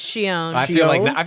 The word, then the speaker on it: Xion: Shion. Xion, which I didn't know we were mispronouncing for. Are we What? really? We were. Xion? It's Shion.